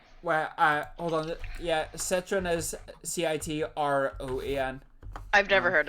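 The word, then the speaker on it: Citroën: one uh it's where uh hold on yeah citroen is c-i-t-r-o-e-n i've never heard of that so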